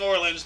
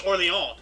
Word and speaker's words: Orléans: And I can't blame you for saying Orleans because, we all know about New Orleans. Yeah. But the actual pronunciation is Orléans because it's French, Orleans.